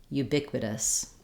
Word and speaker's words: ubiquitous: at how to pronounce ubiquitous so this word has stress on the bic syllable and the letter u